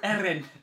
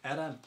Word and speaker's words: Eren: can really pronounce his name. Yeah. I can't do it. Eren. Eren. It's German name. Eren.